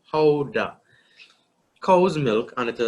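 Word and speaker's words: Gouda: Now this one is pronounced Howda, all right? Howda.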